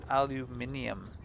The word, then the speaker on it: aluminium: Aluminium. That's how they say it in England.